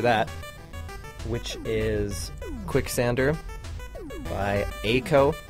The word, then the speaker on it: A.COE: which is Quicksander by Aco. I think that's how you say it. All caps, it's A.COE.